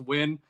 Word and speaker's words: Nguyen: I don't totally understand it myself, but it is pronounced Win. An easy way to remember it is I host a podcast called the Just Win podcast, a radio podcast.